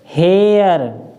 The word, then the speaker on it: hare: जैसे HARE, तो हम इसको क्या पढ़ेंगे? हेर नहीं पढ़ेंगे, क्योंकि आर ने इसका उच्चारण बदल दिया, तो हम इसको पढ़ेंगे हेयर, हेयर, अर।